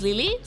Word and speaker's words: LiLi: I just use Lily, which is just like L-E-E, like Lily.